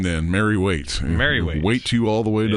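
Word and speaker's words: Waite: W A I T E.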